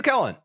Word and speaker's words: Kellen: What is also a decent step up Pronounced Kellen? Okay, so I was saying it wrong. W. Kellen.